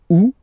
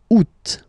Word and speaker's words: août: And then here, two options, because, well, two options are acceptable in French. The first one, you don't pronounce the final T. Ou. Ou. Ou. Second one, you pronounce it. Août.